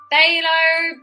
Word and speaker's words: phthalo: really good then phthalo blue pht hey low that's how you spell it that's hate spelling we like blue or ultramarine you could use but i do like the phthalo blue black you use